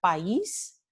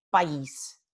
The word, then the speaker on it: país: Entonces, país, no tenemos país. Esto es equivocado, país, ¿no? Porque están en hiato.